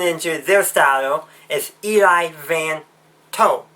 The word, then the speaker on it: Vanto: Though the Chiss turned into their style is Eli Van To, or should I say Eli Van 2, because that's probably more how we would pronounce it given the way it's written.